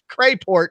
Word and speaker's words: Crapport: I do call you Crapport. It's spelled terrible. It is spelled terrible. It is spelled Crapport, but it is pronounced Crayport unless you're me.